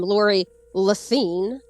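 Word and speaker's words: Lori Lethin: I wish that was Lori lethan apparently she pronounced her name Lori leine okay um I always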